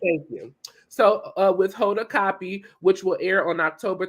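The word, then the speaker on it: Kotb: Hold a copy. Baby, it's copy. It's copy. Copy? Copy, like the copy paper. Okay, Copy. thank you. So with Hoda Copy, which will air on October 13th at 8 p.m.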